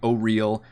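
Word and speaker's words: Auril: are for oral so which by the way i'm pronouncing it oral i'm not pronouncing it oh real i know that's how the pronunciation guide says it but that that sounds dumb and i'm currently playing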